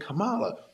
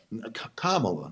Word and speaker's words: Kamala: that over Trump and Cala Kamala let me say it right not that I hate